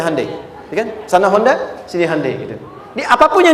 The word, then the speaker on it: Hyundai: bikin Honda sini HD hyundaikan dibacanya Handai sana Honda sini apapun